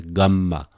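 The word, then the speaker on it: γάμμα: Gamma. I say again, gamma, the name is not important, but the pronunciation g, sometimes I just prefer this one still.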